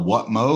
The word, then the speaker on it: Whatmough: or you don't know how to pronounce my last name start with that oh What mo like what mow the lawn so that's how you